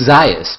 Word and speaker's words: Zajas: It's Zajas, but you can pronounce it Zajas, yeah. So it's a Latino flair. No, Zajas would be the Latino flair. Zajas is more the, the Austrian/Polish flair, because I'm from Buffalo, New York.